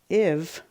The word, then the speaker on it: give: This one is give, but we still spell it with that silent E, but we don't say give. The E doesn't make I say I. So this is kind of an oddball. Give.